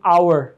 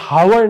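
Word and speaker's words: hour: गलत पढ़ाई जाति है लेकिन आप कहते हैं आई बिल बी देवर इन अवर या हावर नहीं है इन अवर या एक साइलेंट है और ओ यू आर प्रोनाउंस हो रहा है आई bill B they were in an over तो साउंड है वो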